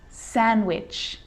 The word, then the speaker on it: sandwich: the letter d it can be silent too wednesday wednesday handsome handsome sandwich sandwich so i'm not pronouncing the d in san diwich i'm just pronouncing the consonant n sound before it try it with me